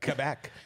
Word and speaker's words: Quebec: Hey, at least you say it right, Quebec.